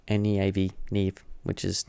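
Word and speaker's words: Neave: Neve. N-E-A-V. Neve. Which is not how you spell Neve, but she's doing it phonetically so people can actually pronounce her name.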